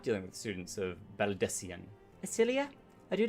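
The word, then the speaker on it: Baldesion: This is the students of Baldician, not Baldicion.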